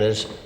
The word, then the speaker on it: Sgurr Dearg: part of the scer now the native pronunciation iser the being the there is a Glide e or H sound put between uh score and Jer uh that's very common